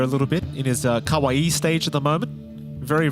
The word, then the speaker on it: kawaii: why' you call him Kawaii well he's not an anime guy is he Jonathan right yeah but it's a hairstyle and pronounce it correct it's Kawaii Jonathan not Kawai Aurora a second pick